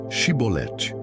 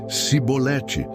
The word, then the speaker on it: Chibolete: Se respondesse que não, diziam: "Então diga: Chibolete". Se ele dissesse cibolete, sem conseguir pronunciar corretamente a palavra, prendiam-no e matavam-no val.000 efraimitas foram mortos naquela ocasião.